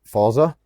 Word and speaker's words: Forza: If you're coming to Thailand and you need a motorbike, if you're a big guy, get a Honda Forza, I'll say it right, Forza.